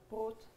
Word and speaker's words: Brot: Brot.